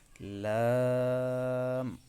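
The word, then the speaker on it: لام: আরেকবার বলি কাফ তারপর লাম লাম হরফ উচ্চারণের সময় আমাদেরকে আওয়াজটা কিছু সময় দীর্ঘ করে টানতে হবে আরেকবার বলি লাম তারপর মিম মিম হরফটিও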